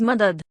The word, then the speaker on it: madad: carefully shukria she smiled as she got the pronunciation right Zade continued next the word help is Mother he said the word slowly mother Lena tried